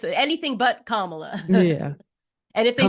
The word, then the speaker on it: Kamala: say Kamala they say Kamala purpose too Kamala camela C they say anything but kamla yeah and if they say comma they change